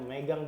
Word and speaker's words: megang: Nomor 4, tradisi lebaran megang, bacanya megang di Aceh.